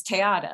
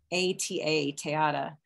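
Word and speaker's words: Te Ata: think of i'm not that well there was tayata of course tayata was a chickasaw performer she was a storyteller and the chickasaw nation has just put out a film about her um it is spelled t-e-a-t-a tayata and i think what's interesting is that tayata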